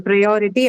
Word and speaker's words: priority: So the O syllable, the second one is the one that is marked.